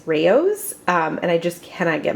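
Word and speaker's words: Rao's: Also, I saw something the other day that said that it is not pronounced Rouse, it's Raos, and I just cannot get my head around that.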